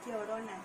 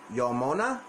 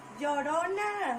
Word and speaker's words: Llorona: to help me out by giving a little pronunciation to it. So, honey, is it The Curse of La Nonona? Llorona. Yomona? Llorona. Yosona? Yo. Yo. Ro. Na. Na. Llorona. La Nona. Llorona.